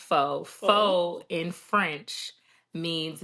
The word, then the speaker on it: Faux: And for anybody, it's spelled Faux, Faux Real Beauty, not Fox. It's pronounced Faux.